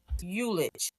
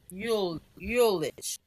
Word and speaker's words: ullage: And the word is Ullage. Ullage. What do you think that pronounced? Ullage. Yulich. ULL. A AGE.